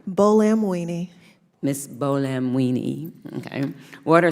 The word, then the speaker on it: Buolamwini: Buolamwini.